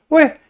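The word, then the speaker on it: 喂: 왜? 하고 제1성으로 읽으면은 전화할 때 여보세요 라는 뜻이고요. 왜? 하고 제4성으로 발음하면은 이봐, 뭐 여보시오, 야 하는 식의 부르는 소리입니다.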